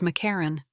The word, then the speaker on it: Markarian: My father, born in the 1920s, pronounced his last name, Markarian, as Makaran.